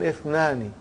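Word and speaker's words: اثنان: What do you see in the Hamza? Is it Hamzatul Qata or Hamzatul Wasal? It is Hamzatul Wasal. We have to take note of it. That Ithnani, the Hamza is Hamzatul Wasal. If it comes in the beginning, it is pronounced. If it doesn't come in the beginning, then it is assimilated.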